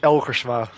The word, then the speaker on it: Elgersma: Well, yeah, the Dutch way of saying it is Erik Elgersma, but I guess it's a bit difficult to pronounce.